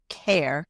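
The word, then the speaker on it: Kerr: There is a small 300 seat theater which is in Scottsdale called Care K R not pronounced K but care and Louise Lincoln Care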